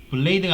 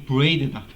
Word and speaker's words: braid: 그래서 블레이드가 아니고 브레이드다. 발음을 잘 못하겠네. 브레이드라고 해갖고 BRAID 이런 식으로 나와요.